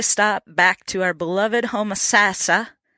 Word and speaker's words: Homosassa: We made a stop back to our beloved Homosassa. I keep saying in this interview you hear Homosassa, but the locals say Homosassa.